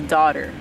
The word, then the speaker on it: dodder: It is daughter. Daughter. It's spelled D-O-D-D-E-R.